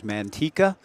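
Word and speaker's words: Manteca: College out of now I've never actually been called upon to pronounce the name of the town but I've got it as Mantika California line drive to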